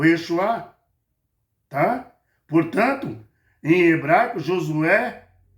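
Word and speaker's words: ישוע: O Yeshua, tá?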